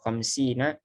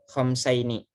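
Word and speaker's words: خمسين: Nah, kalau yang seperti ini kasroh khamsina dinaron, bukan khamsaini. Ya, karena bentuk jamak.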